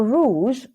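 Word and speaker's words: rúzs: Rouge. But we spell it R. Red. Yeah. So must have come from the word rouge. French. Exactly. French word, yeah. But we spell it R-U-Z-S.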